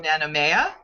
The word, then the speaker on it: Nanumea: several of your episodes and I hope I'm pronouncing this right called Tales From nanomea yes wonderful so tell us about that series